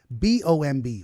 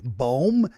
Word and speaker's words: bomb: pronunciations of like um t-o-m-b tomb c-o-m-b coombe no comb okay c-o-m-b comb b-o-m-b boom no bomb I'm the one that